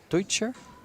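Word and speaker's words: Teutscher: Tim is very particular about his names because the Europeans will pronounce them a little bit different. For instance, it's Ocean and Deutscher.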